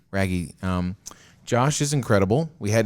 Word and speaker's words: Raggi: Raggi? Raggi.